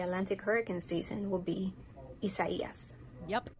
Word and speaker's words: Isaias: The next name in the Atlantic hurricane season will be Isaias. Yep. Isaias.